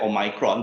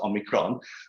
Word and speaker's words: omicron: you pronounce it uh uh actually US says o-mai-cron but I think most of us pronounce it omicron there's a lot of